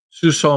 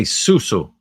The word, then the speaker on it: suso: Suso means breast. Sucking up to suso is good. Ah, suso. I always say susu. So you're saying suso. So I'm pronouncing it wrong.